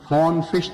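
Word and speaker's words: von Frisch: فون فش تھا، VONFISCH، فون فش تلفظ ہے غالباً اس کا.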